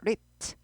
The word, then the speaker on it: ripped: rip은 과거일 때 p를 하나 더 붙이고 그래서 ripped가 아니고 t 발음이 나요. ripped, ripped, ripped 이렇게 돼요.